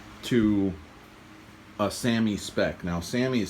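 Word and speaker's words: SAAMI: reshaping it rather to a sami spec now sami is spelled s-a-a-m-i and it's the universal spec for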